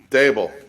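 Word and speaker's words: Daboll: How do you pronounce his name? Dable.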